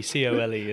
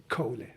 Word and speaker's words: Kohle: So depending on where I am, they pronounce it differently. Yeah. But the proper German pronunciation is Kohle.